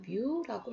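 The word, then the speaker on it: μ: 자, 요거 읽을 때는 M처럼 보이는데 요거는 뮤라고 읽습니다.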